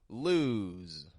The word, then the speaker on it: lose: want to lose you so the S sounds like a z in the word lose l s changes to a z sound lose all right we